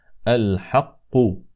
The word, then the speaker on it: الحق: سبا بنبا يقين اما الحاء الثالثه في هذا البيت التي يجب ان ننتبه اليها فهي في الكلمه الحق فلا نقول الحاء هكذا انما الحاء هكذا الحق الحق الحق اذا قال الله